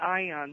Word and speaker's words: Aeon: And in this case, they talk about Ion. They spell it Aeon, where the Pleiadian say that the planet in Andromeda Galaxy is Ion.